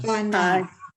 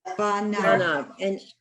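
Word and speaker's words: פניו: And I know that because the letter that precedes it is a hey from the kadma. And when you have like a silent letter, it would be a fey. It's not a pay.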